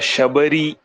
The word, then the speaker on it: Shabari: is that right uh you can pronounce it as a shabari shabari is enough celebrity okay hey guys